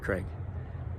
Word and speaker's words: Krieg: you've been calling me Father Krieg for a long time, and my family actually pronounces it Craig.